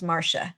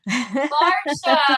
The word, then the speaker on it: Marcia: And let me just share with you because my name is spelled exactly how you're pronouncing it. But my mother pronounced it as Marsha. Marsha.